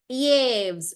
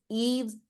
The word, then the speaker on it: Yves: I would say Yves, but it's not Yves, it's French. You know, French are more obsessed with their pronunciation than the language itself.